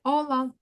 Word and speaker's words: hola: літера вона називається аче ця літера ніколи в іспанських словах не звучить Вона може звучати в англійських словах там які є в іспанську за позичення але якщо ви будете бачити це цю літеру в іспанському слові вона буде просто німою цек який знак його не існує і нам треба прочитати тільки оці три літери Як ви їх думаєте що можна прочитати Ола Ола привіт привіт так Вони